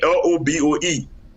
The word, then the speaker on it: Lobbo: I want to talk about the great Lobo, the brother of Frank Lobo.